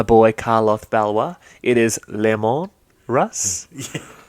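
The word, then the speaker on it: Leman: tell It's the audience how you pronounce Lehman Russ. Layman Russ. You're wrong. Continue with the It's Tenebrous because he is French, much like my boy Carlos Valois. It is Lemon Russ.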